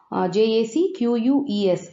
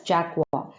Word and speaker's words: Jacques: CN and Jacques, Jacquees, should be pronounced as Jacques, who have staked their entire holiday savings on their bet.